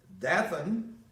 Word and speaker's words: Dathan: Dathan, D-A-T-H-A-N, Abiram, A-B-I-R-A-M, Abiram, and then Elam, E-L-I-A-B,